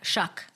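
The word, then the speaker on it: Shough: Shuck. It rhymes with F word, my favorite word.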